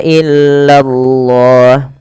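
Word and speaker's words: إلا الله: Kemudian nih di lafal Allah bila didahului dengan fathah atau dhammah dia harus ditebalkan lafal Allahnya. Illallah, lanya tapi tipis, tidak boleh tebal. Illallah, ya, tidak illallah, tapi dia illallah, illallah. Seperti itu.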